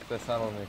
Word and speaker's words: Thessaloniki: No one knows how to pronounce this town. Yeah, they do. Thessaloniki. Thessaloniki. We got it.